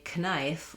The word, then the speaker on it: knife: We no longer say knife or knight. We've lost the k sound at the beginning.